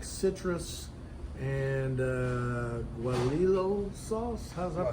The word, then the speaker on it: guajillo: And it's marinated in like citrus and guajillo sauce. How's that pronounced?